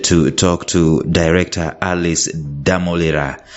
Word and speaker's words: Ddamulira: talk to director Alice damolira Alice is that how your name is pronounced yes when you come from Western Uganda it's difficult to pronounce demolera you can say yes how are you doing